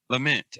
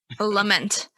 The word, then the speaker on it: Lament: song that you just came out with, Fauci's Lamp. Uh-huh. Is that how you say it? Fauci's Lament? Lament. Okay. Yeah. Okay. I just had to get that clear because I couldn't say that word. Lament.